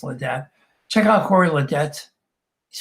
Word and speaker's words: Ledet: a friend of mine the debt link is pronounced I say well a day but it's late dad check out Cory Ledet